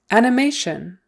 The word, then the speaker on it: animation: the first syllable margin animation animation Accent on the third syllable sorry the stress is